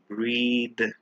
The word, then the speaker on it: breathe: word is breath versus breathe remember when we put e at the in we always stretch and pronounce it as breathe but without the e